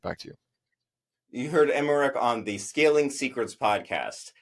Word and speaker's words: Emeric: I don't want to mess up spelling your first and last name, so can you spell that for us? That way people know what to search on LinkedIn. Absolutely. Emeric, Emeric, Emeric.